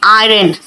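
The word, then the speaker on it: iron: बेटा लिखते हैं आयरन। आर यहां पे साइलेंट होता है। आयरन the clothes. आर को बहुत ज्यादा स्ट्रेस मत करो।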